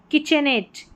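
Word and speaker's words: kitchenette: तो देखिए ये हो गया कैसेट, कैसेट, एट, एट करके उच्चारण। Cigarette, cigarette, eight. Etiquette, etiquette, etiquette. और यहाँ पर है किचनेट, किचनेट, किचनेट।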